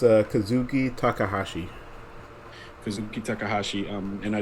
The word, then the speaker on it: Kazuki Takahashi: takahashi um i said it right correct correct kazuki takahashi um created one of the most memorable things